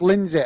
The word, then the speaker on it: Lindsay: Aaron is saying uh it's pronounced Lynn Lindsay Lindsay uh it's pronounced Lindsay all right thanks for